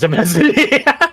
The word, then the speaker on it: demesne: This is actually just pronounced domain. Fun fact. Vesper domain. Domain. Crusader Kings? I know how to pronounce that. Yeah, you're right. Oh, it's actually... Demen. Demesne. Yeah, it's Demesne. The Mesne.